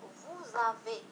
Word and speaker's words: vous avez: donc لاحظوا هنا vous avez إذا نستعمله لأنها vous هو pronom ضمير وهنا avec الفعل.